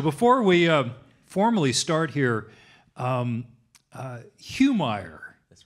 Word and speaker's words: Humire: It comes from Peru, and it's pronounced Humire.